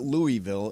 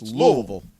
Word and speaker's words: Louisville: right by the way it's not Louisville it's Louisville exactly I say we go